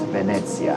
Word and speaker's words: Venezia: See, once you know it's pronounced Venezia, how do you say Venice?